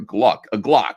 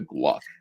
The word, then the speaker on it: Glock: So Brian Dunham would like to place an order for a Glock, not a Gluck.